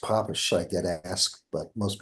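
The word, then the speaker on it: Papez: on the circuit of of PES and originally pronounced poish I get asked but most people call it PES and uh that is a um circuit uh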